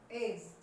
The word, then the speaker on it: edge: एज किनारा, एज कैसे बोला जाएगा, एज, एज किसी भी समतल चीज का किनारा, एज।